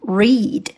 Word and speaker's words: read: 注意这个单词是 read 的过去式形式。形一样，发音不同。原形 read，在这里表达过去的动作要读成 read。In the evening, I did my homework.